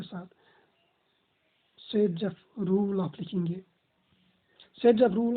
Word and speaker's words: Zaitsev: लिखा तो ऐसे ही जाता है बट प्रोनाउंस इसको SEDZEF किया जाता है, SAIT या SAYT, SEDZEF।